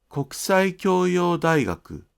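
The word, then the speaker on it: 国際教養大学: 国際教養大学も同じです。一つの単語のように発音してください。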